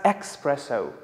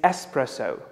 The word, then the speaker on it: espresso: served without milk now some people pronounce it as expresso which is wrong the correct pronunciation is espresso let's use it in